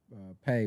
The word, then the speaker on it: Pae: So I was like, let me try something with mines, and I came up with Pae, pronounced as Pae, but stands for Progress Always Established So Clothing.